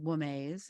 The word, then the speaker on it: Womaze: Mm, And if I'm saying it correctly, it's called Womaze. Is that correct? perfect.